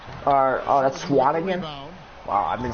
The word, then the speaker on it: Swanigan: Swearinger, that's Swanigan? Wow, I've been saying that name wrong the whole time.